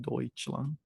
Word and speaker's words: Deutschland: years of German, then I know it's OI. You pronounce that as OI, EU. So yeah, you pronounce OI. That's why it's called, when you say Deutschland, even though it's written as this, you call it Deutschland.